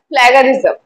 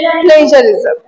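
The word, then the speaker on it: plagiarism: bored I have heard A লট of people প্রোনাউন্সিয়েটেড এস প্লাগারিজম the word is প্লেজারিজম word is প্লেজারিজম সো এরকম অনেক word আছে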